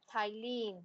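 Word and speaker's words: ptyalin: It is thylline. P is silent there.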